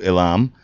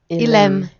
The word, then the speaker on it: Elim: So you're listening to Elam. Is that all you want us to call you, or Ilem.